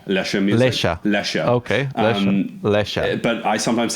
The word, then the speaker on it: Lesja: Nick from LESJAMUSIC, or how do you pronounce LESJA? Is it LESJA? So if you're from the village in Norway Okay. that I have co-opted to name myself after, I think you say Lesja. Lesja music. Lesja. Lesja.